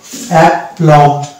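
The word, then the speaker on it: aplomb: অনুরূপ ভাবে পরবর্তী শব্দ দেখতে পাচ্ছি অ্যাপ্লম, তো এটার উচ্চারণ হবে এক, যেহেতু পয় ল মানে পরপর কনসোনেন্ট আছে তো যুক্ত করে দেব, এবং পরবর্তী যেটা লেটার রয়েছে ম, সেটা উচ্চারণ করবো অ্যাপ্লম, অর্থাৎ এখানেও বি সাইলেন্ট হয়ে যাবে।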